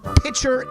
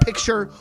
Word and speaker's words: picture: But pitcher instead of picture really, really gets to me.